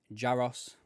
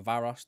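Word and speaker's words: Jaroš: to promote young goalkeeper jaros or Jos or varos depending on how you pronounce his name in his tongue uh to Anna slot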